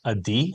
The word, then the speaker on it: Adi: So the first name is actually pronounced a D. Like pretend I know you never have, but pretend you got a really bad grade on the test. So it's a D.